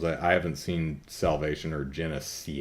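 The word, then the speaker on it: Genisys: haven't seen salvation or genesee yes and I say it like that because they spell it like that um cannon fodder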